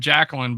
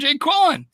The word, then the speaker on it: Jaquelin: Jay Quellen. Some of people are calling him Jacqueline, but I'm like, this looks Jay Quellen to me, man.